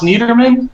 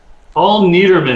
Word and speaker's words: Niedermann: Paul, is it pronounced Niedermann? Yes. Paul Niedermann.